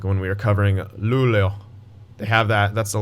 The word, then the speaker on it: Luleå: The A with the little circle over it in Swedish is actually pronounced with a more of an O sound. Like when we were covering Luleå.